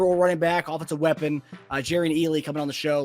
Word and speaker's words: Jerrion: Your name is pronounced. It's Jerrion, but to be quite frankly honest with you, my friends back home say Jerrion, and then even some friends of mine call me Jerrion.